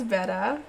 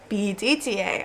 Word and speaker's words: betta: So, a beta is a male, beta male, like B-E-T-A, beta. And then betta is a fish, B-E-T-T-A.